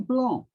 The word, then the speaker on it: blanc: other way around and then blanc and blonde whatever we know pronouncing blonde oh is the c and where is it's at the end of the word so this is the